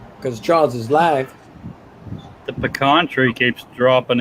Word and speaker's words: pecan: Pecan. It's not pecan, it's pecan.